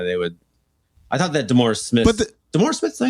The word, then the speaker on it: DeMaurice Smith: I thought that DeMaurice Smith, DeMaurice Smith, did I say his name?